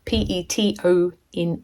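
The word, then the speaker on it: Petone: not in New Zealand that is spelled p e t o NE e pet one Paton and I measured up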